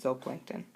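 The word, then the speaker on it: zooplankton: one spelled zoo and the Plankton but we pronounce it Z Plankton carnivores eat only consumers those are your animals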